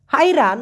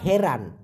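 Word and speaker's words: hairan: ভাষায় বলা হয় গাঁজা হাইরান অথবা হেরান অনেকে হাইরান উচ্চারণ করে অনেকে হেরান বলে ওইটাকে হচ্ছে হতবম্ব ধরেন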